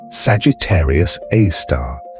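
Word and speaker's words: Sagittarius A*: Astronomers usually pronounce it Sagittarius A star.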